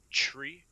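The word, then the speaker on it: three: So tree, fife, and 9.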